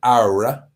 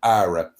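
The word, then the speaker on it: Qawra: it's in a place called ARA which it's pronounced ARA it's spelled q a w a it's pronounced ARA and I stay in a hotel called the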